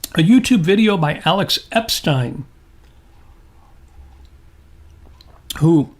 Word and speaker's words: Epstein: years I called Alex Epstein because I used to watch Welcome Back Carter and that's how Epstein was pronounced. But no, rhymes with Einstein.